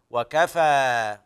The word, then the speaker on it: وكفى: السقف هذا يسموه الوقف اما وكفى من الكفايه فالنطق الصحيح المراد للمعنى وكفى والله اعلم يلا اعد